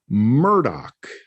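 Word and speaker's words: Murdaugh: they said it and the last name is murdoch that's how it's pronounced mean anything but what's funny about that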